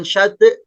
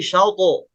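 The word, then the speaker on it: شطأه: Kemudian syauto'ahu. Nah, syauto'ahu ini pantulannya bukan ke bunyi Oh. bukan syate, tapi syauto. Syauto. Ya. Nah, terus ketika dipantulkan jangan ditahan.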